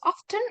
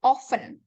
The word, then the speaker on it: often: so you there's often you can pronounce often or often both are the same oh what about number